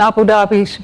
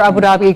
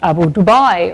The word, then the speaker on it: Abu Dhabi: Abu Dhabi is, and whether Abu Dhabi should really be pronounced Abu Dubai or something like that.